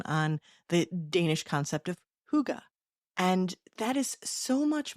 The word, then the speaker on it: hygge: And let's talk about that hygge. Thank you for that episode. I knew about the concept. As I pronounced it, I think hygie is what I was saying. Sure, because that's how it's spelled. Yeah.